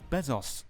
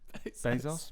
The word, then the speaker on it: Bezos: In other news, Jeff Bezos. How do you say his name? Bezos.